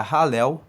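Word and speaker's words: Hallel: grupo do alel egípcio alel se escreve h a l l e l se pronuncia halel egípcio que esse ralel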